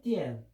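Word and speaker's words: 电: 발음은 중국 발음은 띠엔. 우리는 띠엔.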